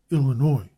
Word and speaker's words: Illinois: Louis influenced the local pronunciation of Illinois, which is Illinois, but this may be a mere attempt to improve upon the vulgar Illini.